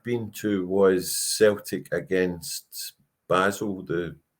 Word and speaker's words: Basel: The first European game I'd been to was Celtic against Basel, or Bal, whichever way you want to pronounce it, the Swiss champions.